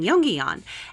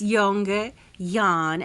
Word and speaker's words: Jongejan: So for me, it took a while. It's Jongejan, and you say it really fast, and you pretend like you're Dutch when you say it.